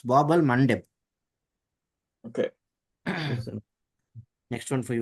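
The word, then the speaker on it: Bab al-Mandeb: you got the pronunciation slightly incorrect though. It's Bab al Mandeb.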